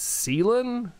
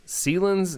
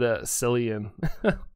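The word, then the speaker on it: Cyllene: So it's Celan. Celan's name is pronounced Celan. Really? I've always said Cillian.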